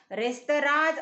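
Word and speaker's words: restaurants: बघा, रेस्टॉरंटचं जे स्पेलिंग जरी रेस्टॉरंट्स असं असलं तर त्याचा उच्चार रेस्तराज असा होतो.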